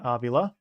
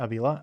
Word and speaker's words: Avila: Approaching a 100 pitches is Luender Avula as I heard that's how his name should be pronounced. Not Avila.